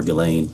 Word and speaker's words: Ghislaine: As best as we know, it's been publicly reported that in 2024, Ghislaine Maxwell, or Ghislaine, I think is how it's pronounced, arranged and wired $1